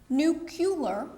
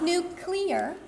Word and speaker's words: nuclear: and throughout this conversation it will be pronounced nucular not nuclear and no there is